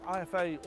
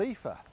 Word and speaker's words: IFA: But the only problem is I've been saying IFA all wrong. It's not called IFA, it's called Ether.